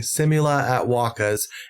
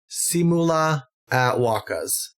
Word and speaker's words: Simula at Wakas: Okay, so I've been saying Simula at Wakas, and apparently it is Simula at Wakas.